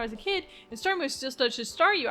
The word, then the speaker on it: Staryu: But back when I was a kid and stares Staryu, I could never pronounce its name right. I always ended up saying sounding like saw you.